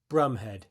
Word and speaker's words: Bromhead: Before we move on, it's important to understand that Gonville's surname Brumhead was actually pronounced Brumhead.